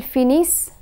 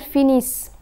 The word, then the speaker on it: finissent: And when the letter combination ENT is placed at the end of a verb, it is silent. The consonant that precedes the ENT ending is pronounced. Ils finissent, elles finissent.